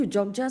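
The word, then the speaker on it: Jogja: It's pronounced as Joja.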